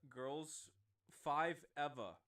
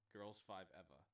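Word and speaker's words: Girls5eva: So for TV, we got Girls 5 Eva. That's how it's said. It's Girls, the number 5, and EVA. Girls 5 Eva.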